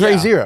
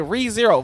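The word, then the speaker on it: Re:Zero: with it doesn't matter why would you pronounce re as ray cause i just did because of solfege no it didn't read okay re-zero it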